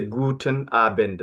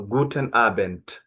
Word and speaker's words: Guten Abend: The D is red T, not D. You don't say Guten Abend, no, Guten Abend, T at the end, okay?